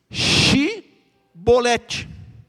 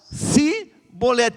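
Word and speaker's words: Shibboleth: Esse fato aqui era para falar Shibolete. Mas eles falaram Sibolete, porque era um problema de pronúncia da língua.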